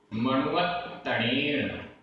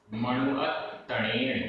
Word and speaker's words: मणुवत्तणेन: मणुवत्तणेन, मणुवत्तणेन, यहाँ पर आधता पूरता, मणुवत्तणेन।